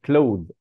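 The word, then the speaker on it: clothes: بعد كده كلو الملابس وقلنا الاي اس مش بتتنطق كلوذ كلوذ كلوذ الملابس شوز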